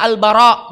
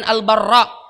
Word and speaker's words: Al-Bara: Dan cara membacanya Al-Bara bukan Al-Barra ibn Azib. Ya, biasa ada ikhwan yang membaca Al-Barra, yang sahih Al-Bara ibn Azib.